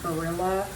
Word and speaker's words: Barilla: Some of the Barilla, that's how you say it.